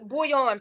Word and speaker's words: bullion: he told us it's bullion pronounced just like the cubes used in the flavor soups I thought so I